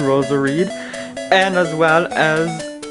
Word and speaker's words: Roserade: that one's very cool because it Rhymes Rose Parade Ros areed and as well as